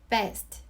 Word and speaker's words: best: B 발음은 윗입술이랑 아랫입술이랑 떨어지면서 나는 소리예요. 마치 best처럼요. best.